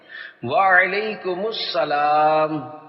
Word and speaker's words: وعلیکم السلام: دہرائیے۔ السلام علیکم، اب پہلے میں جواب سناتا ہوں، پھر آپ اس کو دہرائیے۔ وعلیکم السلام، رضائے حق کے لیے